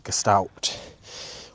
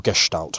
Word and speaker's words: Gestalt: One of the things I was learning this weekend is called the Gestalt or Gestalt I should say if I'm going to say it properly.